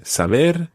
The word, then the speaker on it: saber: Yeah, saber and conocer. All the infinitives always are stressed on that last syllable. So it's saber, conocer.